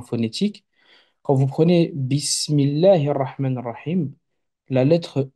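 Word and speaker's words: الرحمن: Quand vous prenez Bismillahir Rahmanir Rahim, la lettre R qui est ici, lorsque vous la prononcez comme un R roulé normalement, un R comme à l'espagnol, hein, le Ra de Rahman, le Ra de Rahim.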